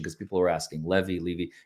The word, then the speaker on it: Levy: The Hales moved to Levy County, Florida. That's the proper pronunciation because people were asking. Levy.